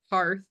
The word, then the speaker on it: HEARTH: that I said this I think I've been saying it wrong I think Sydney and I have different accents because I'm in the Midwest and so I say Hearth Sydney has been saying hear I don't think it really matters as long as you spell